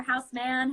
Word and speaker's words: Houseman: is the owner of is it Houseman or house man how do you guys pronounce it Houseman Houseman yeah so he the